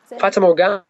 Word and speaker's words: Fata Morgana: your first album, how do you pronounce it? Fata Morgana? Fata Morgana.